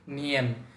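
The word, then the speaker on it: 年: বছরকে নিয়েন বলে, নিয়েন। উচ্চারণটা হবে নিয়েন।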